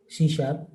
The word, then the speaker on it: C#: right so what exactly Shea she has is pronounced C it is an objectoriented programming language created by